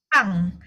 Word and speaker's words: 빵: Pang. Ya, dia walaupun 2B bacanya P.